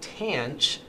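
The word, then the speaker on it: tanh: over cosine for the hyperbolic tangent which most people will call tanch hinge will be cinch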